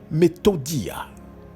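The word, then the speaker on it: μεθοδεία: écoutez bien ce si c'est un mot grec qui se prononce methodia méthode et écoutez bien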